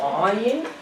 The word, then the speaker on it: Aïn: Là, vous voyez un rond avec un point, ça ressemble à un œil, on prononce Aïn, et là, T, vous voyez, la Alat.